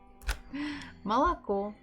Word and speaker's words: молоко: Next O, is it stressed or not? Not really, so we have to pronounce it as A.